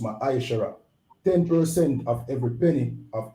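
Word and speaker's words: מעשר: Means 10th in the Hebrew and is pronounced Ma'aishara.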